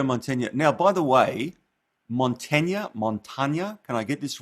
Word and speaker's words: Mantegna: The proper Italian pronunciation really would be Mantegna. The E sound is an A sound, and the A sound is an A sound, so it's Mantegna.